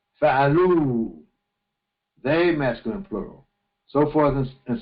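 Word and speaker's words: فعلوا: And you don't pronounce the aleph. Fa'alu, they masculine plural.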